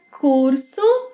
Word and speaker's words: curso: If you said curso, you got it right. The letter U has a U sound. U. The same sound you make when showing disapproval, like poo. Oh, by the way, in